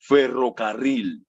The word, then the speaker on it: ferrocarril: In Spanish is ferrocarril. This one has the double R twice, ferrocarril.